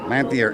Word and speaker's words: Lanthier: Thank Give me pronouncing your last name is? Lanthier. Lanthier.